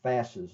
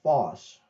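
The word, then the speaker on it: Fass: the I'll first mention about the uh the pronunciation of my Rune fast's last name all right uh for the longest time I was calling it Foss because I had heard a couple of people pronounce it Foss and I thought that was correct but one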